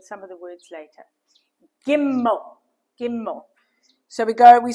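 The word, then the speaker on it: גימל: Giml. Giml. So, we go we start from the left at the top and we go across and diagonally down and then we give it a leg. Yeah. Gimmel.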